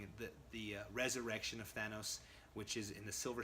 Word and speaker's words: Thanos: are always messing up there I used to pronounce this thoug nose because that's just how I read it all